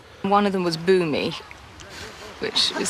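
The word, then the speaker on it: Bumi: One of them was Boommy, which is spelled B U M I, which I think would have been fairly unfortunate for a child.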